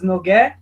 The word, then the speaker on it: Nougué: presença do Professor Carlos NOG professor por favor se apresente Muito obrigado primeiro desculpe quero esclarecer como pronuncia meu nome né é fechado é um nome francês n só uma bobagem